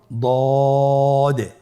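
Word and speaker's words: ض: পরবর্তী হরফের নাম হলো দদে। দেখতে একই রকম সদের মতোই, শুধুমাত্র নোক্তার পার্থক্য। সদের মধ্যে কোনো নোক্তা নেই, দদের মধ্যে নোক্তা রয়েছে। দদ হরফটি উচ্চারণ করার সময় অবশ্যই 3 আলিফ টেনে পড়তে হবে।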